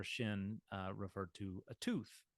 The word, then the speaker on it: shin: sound sha it's a shin if the dot is over the left side you've got the S sound it's a sin and um yeah I